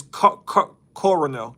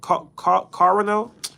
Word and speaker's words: colonel: stupidest English word, is coronel. Coronel? The man that works in the army that's the very top, like coronel. Like, it's spelled Colonel, but it's pronounced as if there is an R in there.